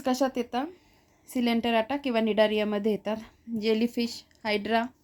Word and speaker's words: Cnidaria: दुसरच नाव काय आहे निडारिया निडारियाच spelling बघा सी वरून चालू येत सी सायलेंट आहे आणि निडारिया वरून ते स्टार्ट होतं मग आपल्याला त्याची सममिती